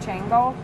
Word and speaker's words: Xango: it's called Xango but it's spelled Xango but it's pronounced Chango but of course you